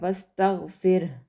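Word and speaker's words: واستغفره: और जो एंड पे हा है उसके ऊपर चूँकि हम वक्फ़ कर रहे हैं तो हम यहाँ पर इसको भी साइलेंट कर देंगे, लेकिन हमने इसको पढ़ना ज़रूर है, वस्तगफिर, ठीक है। हा जो है वो प्रोमिनेंट होना चाहिए आपके आवाज़ में कि आपने हा भी पढ़ा है, ठीक है।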